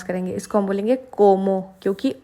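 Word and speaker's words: como: तो हम इसको बोलेंगे सीएन क्योंकि हम स प्रोनाउंस करेंगे इसको हम बोलेंगे कोमो क्योंकि ओ आ रहा है सी के बाद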